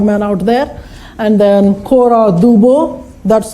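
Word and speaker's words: Cora Du Bois: out there and then kora du Bois that's how you pronounce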